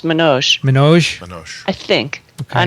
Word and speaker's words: Manoj: I think his name is pronounced Manoj.